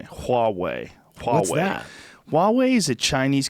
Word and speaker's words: Huawei: it they have a huawei phone I'm saying it wrong apparently people corrected me hallway Wow Huawei is a